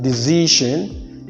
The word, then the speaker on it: decision: We have, when you find the ION or words ending in ION with a single S, then that word is, this S is to be pronounced as gen.